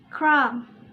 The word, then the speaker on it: crumb: We pronounce it crumb.